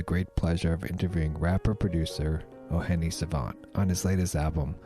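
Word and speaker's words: O'hene Savànt: Tonight, I have the great pleasure of interviewing rapper-producer O'Hene Savant on his latest album, pronounced O'hene Savant.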